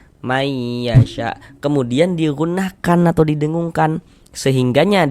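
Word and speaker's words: مَنْ يَشَاءُ: Cara membacanya bunyi nun sukunnya dimasukkan ke huruf ya. Sehingga ini kita baca may. May jangan dibaca man. Man yasya jangan. Tapi dibaca may. May yasya.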